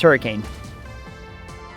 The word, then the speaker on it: Hurricane: You're all like, yeah, that's hurricane. Nope. Nope. That's hurricane. That's how it's pronounced. Hurricane. Take off the E, in fact. It's like her-EH-CAN. Hurricane. Maybe even a CUN.